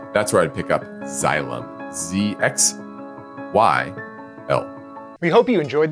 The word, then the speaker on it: Xylem: XYL, this is Xylem. I think how you say it. XYLEM is how you spell it.